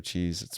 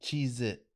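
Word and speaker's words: Cheez-It: it's not spelled regular cheese it's spelled with a z no it's not cheese it cheese it yeah it was like a z or whatever cheese it cheese it not cheese its well I don't know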